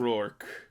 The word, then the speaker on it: Rourke: Mickey Rourke. Mickey Rourke.